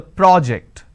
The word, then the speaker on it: project: So when I'm stressing on the first syllable, it becomes a noun. That means please submit the project.